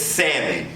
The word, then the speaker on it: salmon: there the word is salmon although it is spelled salmon s-a-l-m-o-n the word is sin the l is silent just some you know